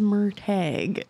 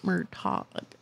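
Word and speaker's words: Murtagh: agreed is it's called we looked at the pronunciation page in the book and apparently his name is mer tag not murtaught I like more talk better it sounds better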